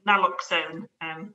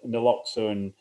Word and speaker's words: naloxone: There's a related question from Natalie, who asks about a news item today that the Scottish police will be carrying naloxone, that's how you pronounce it, the opioid blocking drug.